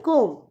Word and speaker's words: comb: COMB, इसको हम कोम्ब नहीं पढ़ते, इसको हम कोम्ब पढ़ते हैं, COM कोम्ब, तो यहाँ पे B साइलेंट।